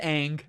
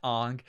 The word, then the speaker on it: Aang: it's the movie's fault this is ang not ong and of course aang